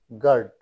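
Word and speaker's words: guard: এফ টি ই এন সফেন নরম করা you silent পাইবে অর্থাৎ জি ইউ এ আর ডি গার্ড চৌকি দেওয়া জি ইউ E double S guess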